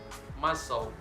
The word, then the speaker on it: muscle: after the letter s seeing these common examples muscle sister fascinate sea snail the letter D can